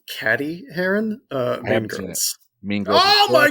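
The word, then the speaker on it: Cady Heron: what comedy follows 16-year-old Katie Haren who transfers to a public high school after being homeschooled for her whole life uh I believe it's pronounced caddy Haron uh me mean oh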